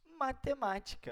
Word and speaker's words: matemática: Matemática, vejam. Matemática. A sílaba forte está no ma.